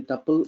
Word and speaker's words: tuple: can pronounce as the tuple or we can pronounce as is purple it's up to your choice collection of data elements